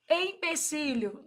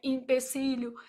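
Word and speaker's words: empecilho: Empecílio, não é li, né? E também não é impecílio.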